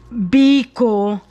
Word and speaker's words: Biko: Now, the way I want my sweet rice or Biko, I have to pronounce it right. Biko.